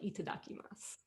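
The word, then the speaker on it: いただきます: duck i must and if you say that quickly eat a duck i must it almost sounds like it sounds like itadakimasu yeah so this is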